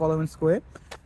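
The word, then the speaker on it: Коломенское: অ্যাজ পার দ্য মানে আমরা তো তার প্রোনাউন্সিয়েশন দেখলাম, সেটা হচ্ছে কলোমেনস্কোয়ে।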